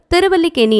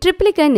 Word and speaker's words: திருவல்லிக்கேணி: அதேபோல திருவல்லிக்கேணி என்று இருப்பதை ட்ரிப்ளிகன் என்று இனிமேல் உச்சரிக்கக்கூடாது, திருவல்லிக்கேணி என்றே உச்சரிக்க வேண்டும்.